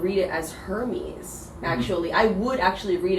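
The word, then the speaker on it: Hermès: kind of actually so i would go for like no h and just like hermes right ah chanel chanel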